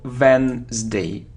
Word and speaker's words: Wednesday: Day Veterans Day now we don't pronounce it so Wednesday Wednesday it isn't cues muse